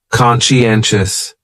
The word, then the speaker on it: conscientious: going on there so conscientious has four syllables and the stress is on that third syllable n conscientious conscientious that second syllable is what really confuses people because that sigh almost sounds like you're saying she conscientious conscientious someone who